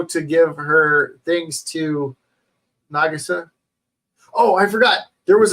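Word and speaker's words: Nagisa: and let nagasi win nagasa nagasa that's how you say his name nagasa I've been saying it wrong this whole time um and then they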